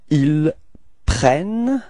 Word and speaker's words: ils prennent: Okay, so you can notice that the first E of prennent is pronounced like E, E, and the reason for that is that you've got a double N after that, so it changes the pronunciation of the E.